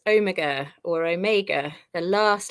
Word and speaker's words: Omega: did you get it right it's Omega or Omega the last letter of the alphabet so you